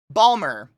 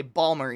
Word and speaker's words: Baltimore: any teas we just Baltimore Balmer I've heard people say Balmer even man that [ __